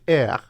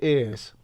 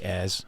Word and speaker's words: aires: Or do I say ears? You can say airs, Air. given where you're from. You say what you like. So an air is a park up.